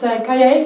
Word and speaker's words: Kaia: I guess also about this may be the pronunciation is not that good yes I said my name is kaya here I come from Estonia I will have